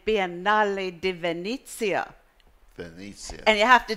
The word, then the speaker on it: Venezia: You say Biennale di Venezia. Venezia. And you have to do this with your hand to make it really work. So yes. Biennale di Venezia.